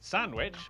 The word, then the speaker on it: Sandwich: The W in... Sandwich.